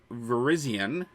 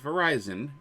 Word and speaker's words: Virizion: Tuesday of next week Virizion not Verizon Virizion is going to be